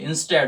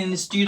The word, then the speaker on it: instead: आगे बढ़ जाते हैं फिर यहां से, देखिए इंस्टेड ऑफ, कुछ लोग इसे इंस्टीड ऑफ बोलते हैं, बट प्यारे बच्चों उसके सही उच्चारण क्या होता है, इंस्टेड ऑफ, क्या होता है, इंस्टेड